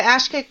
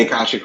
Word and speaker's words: akashic: getting it and I'm oh the ashkii records oh I've heard of those before how do those fit in I didn't say it right the akashic records yeah so the akashic